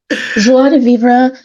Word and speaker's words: joie de vivre: Joie de vivre. And, I'm sure that the French would pronounce it even a little bit differently than that, but you're close enough, Charles.